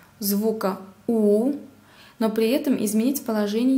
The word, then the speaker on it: у: Буквы У, Ü и F. Буква У во всех татарских словах и словах, заимствованных из русского языка, произносится У, как в слове урман.